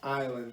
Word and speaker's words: island: is correct it's pronounced island but you need Robert your job the S is silent we'll go over that